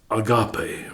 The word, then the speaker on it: agape: Then the one that Paul chose to use in 1 Corinthians 13 is agape, or agape. It's pronounced both ways.